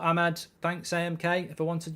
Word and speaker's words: Amad: there uh hi Mark ahman's name is pronounced Ahmed or Ahmad thanks amk if I